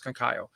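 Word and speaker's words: Conceição: it's it's it's kakayo sometimes i call him kankao sometimes i call him kakayo so you know i apologized for earl earlier i have a hard time with this name for whatever reason so it's kakayo you know and um you know so i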